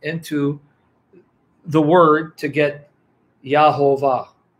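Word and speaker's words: Yehovah: And they pronounce the name as Yahovah, Yahovah.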